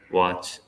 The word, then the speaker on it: watch: next word pronounce it watch watch not VA it's not pronounced as VA it's w watch watch watch yes walk